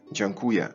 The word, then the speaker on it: dziękuję: on the first syllable, which in modern Polish sounds like dziękuję.